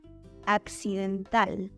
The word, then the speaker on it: accidental: In Spanish, the stressed syllable is in the last position, and you need to emphasize the letter A.